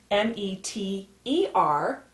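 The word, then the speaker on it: metre: Sometimes you'll see meter written M-E-T-E-R, mostly in the United States, and in other countries you might see it written M-E-T-R-E. Both ways are pronounced meter, and they're both correct, with the ER or spelled with an R-E.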